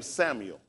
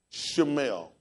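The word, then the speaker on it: Shmuel: Just like the name Samuel. Samuel will actually be spelled S-H-M-U-E-L, Shemuel, Shemuel, it's not Samuel, S-H-M-U-E-L, Shemuel, but they taught us Samuel, because their pronunciation, they try to use vowels.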